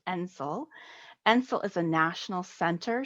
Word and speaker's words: NCIL: I am pleased to represent the National Center on Improving Literacy, abbreviated NCIL and pronounced NCIL.